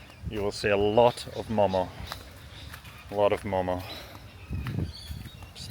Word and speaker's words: momo: lot of the menus they will actually say momos with the s on the end. And I've come to learn that that is not not the right way to say it. It is momo, no s. You're having one momo, two momo, 10 momo, two serves of momo. Doesn't matter. It's momo.